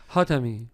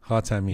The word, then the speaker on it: Hatami: Hatami. Hatami. Yeah. It's like Hatami. Unfortunately. I'm just making sure I know for the pronunciation.